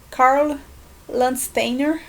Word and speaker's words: Landsteiner: no século 20 para um cientista austríaco chamado carla landsteiner assim se pronuncia mas levando em conta então esse cara